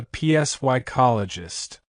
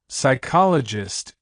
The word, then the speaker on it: psychologist: to meet with a psycologist Lucy John it's Sai you don't say p the p in psychologist psychic and psychiatrist is silent so it's just SI sound not PS correct pronunciation psychologist example three the subtle